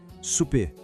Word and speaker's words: souper: Escute de novo, souper.